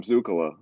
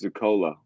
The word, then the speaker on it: Zakola: almost mercy and i've always been calling him zukula but his name is zakola and that's how he pronounces it so that's why